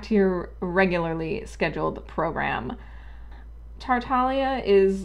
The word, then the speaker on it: Tartaglia: for my own sanity this is an italian word and italian unlike english is phonetically consistent so i can tell you that this is pronounced tartalia i know that nobody from mihoyo is watching this but please for the love of god stop calling him tartaglia i lose a month